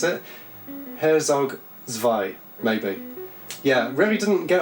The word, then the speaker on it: Herzog Zwei: of people really recommend for the Mega Drive Herzog zwei Herzog zwei I think that's how you pronounce it Herzog Vai maybe yeah Remi didn't get on with this